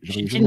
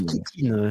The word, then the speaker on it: chitine: chitine c'est ça je chitine mais je crois qu'on prononce kitine on pronce à chaque